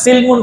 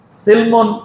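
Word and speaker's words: سلم: এখানে সিলমুন শব্দের অর্থ ইসলাম, আর সিলমুন বা সালমুন দুইভাবে উচ্চারণ করা যায়।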